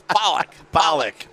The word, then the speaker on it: Pollock: It's Pollock. Pollock. Oh, I thought If it was Pollock, it'd be A, not an O. Oh. It's P-O-L. That's Pollock.